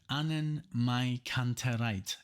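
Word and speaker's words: AnnenMayKantereit: So it's 3 words, 3 names. It's Annen, Mai, and then Kantereit. Just spell it like that. Annen, Mai, Kantereit.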